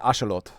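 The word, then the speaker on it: axolotl: Yeah, it's an it's it's an ashelot. Fun fact, that's how it's pronounced.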